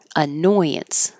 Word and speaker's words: annoyance: squirrel Appreciation Day annoyance annoyance squirrels can be an annoyance be there's an invisible y b and then bance lot a bance this